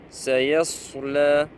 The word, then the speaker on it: سيصلى: Ici, nous avons sad. C'est le même, si vous voulez, c'est la même lettre en fait. La seule différence, c'est sin, elle est muraqqaqa, elle est de basse tonalité. Sa, on ne dit pas par exemple sa, sa. Ici, c'est sa. Sayasla. Et ici, c'est sad. Sayasla. Et on ne dit pas sayasla, sayas, sayas. Vous voyez la différence?